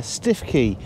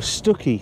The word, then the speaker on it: Stiffkey: we're at uh uh stifkey or stuckey i think is how the locals pronounce this one here uh up on